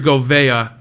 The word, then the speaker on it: Govea: Andrew Govea, first off, that's the correct pronunciation of his name.